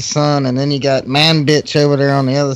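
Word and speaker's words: Manbij: I think the other one's a funny name, the Manbitch, M-A-N-B-I-J. Manbitch. Yeah. But they pronounce it sounds like man bitch.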